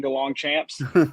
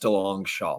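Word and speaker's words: Deslongchamps: here's the problem guys it is pronounced Del long Shaw but I'd be insane to correct people when they say Champs it's like the ultimate fantasy football name it sounds way cooler so I'm not gonna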